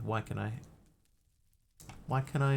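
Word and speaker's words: Waikanae: Did you know Waikanai is the city of LNP? That's how you pronounce that, by the way. Waikanai.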